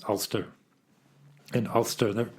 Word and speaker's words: Alcester: It's spelled Alcestor. The temptation is to pronounce it Alcester, which I'm absolutely sure is wrong. If I look at how Worcestershire is pronounced, not Worcestershire, it is Worcestershire. So maybe it's Ulster, as if it were Ulstershire.